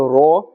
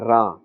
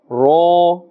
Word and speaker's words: ر: This letter Ra also must be pronounced with a fuller sound. Do not say Re or Ra. Ha, Ra. Ba, Ra. Ya, Ra, Ta, Ra, Ta as well.